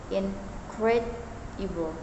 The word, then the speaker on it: incredible: In the word incredible, for example, the primary stress falls on the second syllable, incredible.